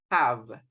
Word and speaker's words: have: Okay, as you can see, we are using the letter H, but they sound like a letter J. So, hello, have, has, hair. Okay, remember to mention or to pronounce the letter H as if it is a letter J in Spanish.